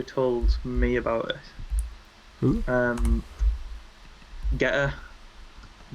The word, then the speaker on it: Getter: Getter. I don't pronounce the T's.